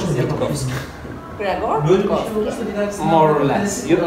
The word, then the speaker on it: Grzegorz: How is its pronunciation? Well, let's say it's gonna be Greg, because my name originally is Ggrzegorz, which is really difficult.